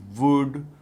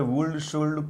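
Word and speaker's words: would: वर बोलना ठीक है और विल वुड नहीं कहना एल साइलेंट है बच्चे अक्सर वोल्ड कोल्ड कहते हैं जो की गलत है फिर बाद में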